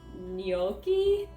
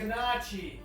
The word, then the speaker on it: gnocchi: Today I'm gonna make sweet potato, I'm gonna say this right, gnocchi? I mispronounced that word for a really long time. It's Gnocchi! And I'm trying to say it right, so gnocchi.